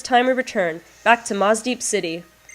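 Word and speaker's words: Mossdeep City: I guess the way it's spelled, it's Mosdeep City, but like when I say it quickly, I end up saying it with a harder S sound, more like the Z sound, so it sounds like Mosdeep.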